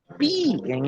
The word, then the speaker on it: pi: Porque pi, em inglês, se pronuncia pie e é igual a torta.